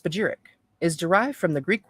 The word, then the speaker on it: spagyric: Spagyrix, pronounced spagyric, is derived from the Greek words meaning to separate and reunite.